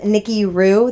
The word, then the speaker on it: Nikkihru: I am on everything as Nikki Rue. That's NIKKIHRU. Yes, the H is silent like a showgirl.